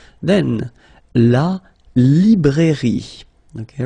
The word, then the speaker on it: librairie: Then, la librairie. Okay, remember, I here, li. Librairie, final E, not pronounced.